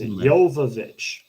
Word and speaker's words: Jovovich: uh uh okay so what I'm seeing is Jovovich Quinn was doing important stuff Kudrow no it's